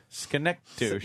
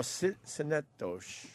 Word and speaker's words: Synecdoche: Schenectady. Yeah, that's how I would pronounce it. Something like that. Schenectady. No, Synecdoche.